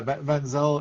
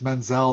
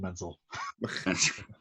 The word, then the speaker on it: Menzel: Yeah, Menzel. It's a like a German name, and if it's Menzel, that's the way that the Jewish people pronounce it, like Idina Menzel. But I'm just a plain old Menzel.